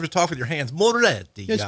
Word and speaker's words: Moretti: Moretti. Moretti. Moretti. How do you roll your Rs? There's only one. There's only one R. There's only one R. You don't.